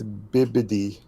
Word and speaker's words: Bibbidi: I've been saying it wrong this entire time and no one's corrected me. It's What'd you not Bippity, it's Bibbidi.